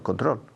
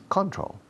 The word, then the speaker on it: control: La segunda sílaba lleva la acentuación, como en español, control. Por algún motivo que todos los profesores desconocemos, los españoles, cuando habláis en inglés, decís control. No sé por qué.